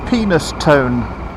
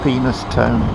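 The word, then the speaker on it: Penistone: across at this roundabout penis tone you said penis yep there is a place called penis turn you'll find is pronounced Peniston ha my until expand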